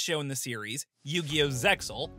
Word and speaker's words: Zexal: Zexal, or Zale if you prefer the original pronunciation, is where things start to get fuzzy.